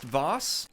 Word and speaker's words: vases: the painting even the the vases or vos is multiple vases pronounced vos and just like that